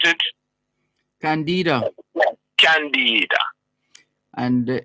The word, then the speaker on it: Candida: Why not Candida? When she had the idea Candid. Why Candida? Because Candida. Yeah, why is not Candida instead of Candida? Candida. It is Candida.